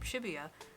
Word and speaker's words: Shibuya: four kilometres away while the numbers 4 to 8 in Japanese can be pronounced the same as the syllables for the name Shibuya there also can be